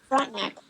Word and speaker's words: Frontenac: Frontenac, yeah. Frontenac.